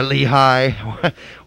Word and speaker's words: Lichaj: You've got, well, we debated how to pronounce this guy's name. Lichaj. Yeah, Lehigh. You know, whatever you want to call him.